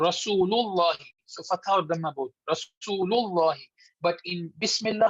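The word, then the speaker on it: بسم الله: But in Bismillah, how do we say? Bismillah. We don't make Bismillah.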